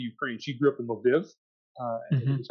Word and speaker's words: Lviv: She grew up in Lviv.